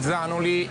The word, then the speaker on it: Zanoli: li abbiamo rettificato insomma la pronuncia esatta sarebbe zanoli potrebbe azzano li potrebbe